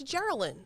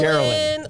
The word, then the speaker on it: Jearlyn: People can't pronounce Jearlyn. I get Geraldine. I kind of butchered it just there. I think. Geraldine, Jacqueline, Jearlyn.